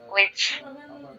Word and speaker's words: which: এইচ বাদ দিলাম, which. এভাবে উচ্চারণ করতে হবে।